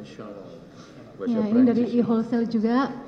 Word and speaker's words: Chanel: Bacanya Chanel.